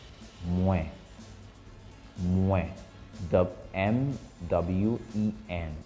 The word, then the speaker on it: Mwen: The first one is Mwen. For I, Mwen. Mwen. The M-W-E-N. How do you pronounce that?